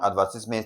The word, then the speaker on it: advertisement: So, for this particular one, advertisement, the stress is placed on what now? Ad, that's what now? Option B, very, very easy.